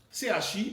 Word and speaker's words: chi: Un concept qu'on appelle l'aura, A-U-R-A, et un autre concept qu'on appelle le chi, C-H-I, donc on prononce chi.